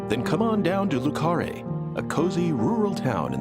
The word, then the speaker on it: Le Carré: First up, we see numerous shots of Le Carré, which, thanks to York's narration, I know how to properly pronounce. Then come on down to Le Carré, a cozy rural town in the great state of Louisiana.